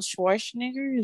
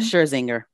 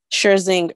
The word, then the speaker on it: Scherzinger: girl group together and Nicole Schwarzenegger, that's how you say her name? Scherzinger. Scherzinger, thanks.